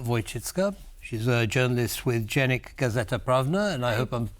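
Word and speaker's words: Dziennik Gazeta Prawna: She's a journalist with Dziennik, Gazeta, Prawna, and I hope I'm pronouncing that correctly.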